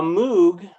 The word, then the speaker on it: Moog: A Moog, which I could be wrong, but I think it's pronounced Moog.